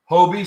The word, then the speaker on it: Hobie: oh yeah never worn hobie sports pronounced toby riding pants that also